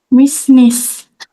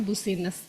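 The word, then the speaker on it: business: Yang kedua, bisnis. Good. Bisnis. Jadi, kata yang kedua kita membacanya adalah bisnis. Jangan sampai mahasiswa Asia nih ya membacanya busines.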